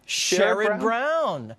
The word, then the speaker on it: Sherrod: Sherrod Brown.